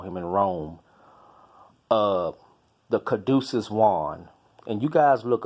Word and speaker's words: caduceus: mercury as they call him in Rome the caduceus wand and you guys look up the caduceus wand it's spelled see a D you see EU s